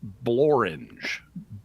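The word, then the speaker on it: Blorenge: Blorange is a mountain in Wales, so there's a Mount Blorange. All right. So there you go. Sporange and blorange both rhyme with orange.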